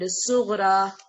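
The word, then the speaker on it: صغرى: Kubra, okay, and sughra. How we pronounce it? Sughra, like that. This ya is there, but sound is coming from for like alif sound.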